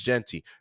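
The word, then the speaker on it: Jeanty: It's not GT. It is spelled that way, but it's Genty.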